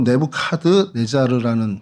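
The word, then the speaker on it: 네부카드네자르: 그래서 먼저 좀이 보면 이곳에 좀 대표적인 유물들이 어 공중 정원이라고 느브간네살인데 뭐 영식 발음으로 네부 카드 네자르라는 그 왕의 공중 정원이 있고요.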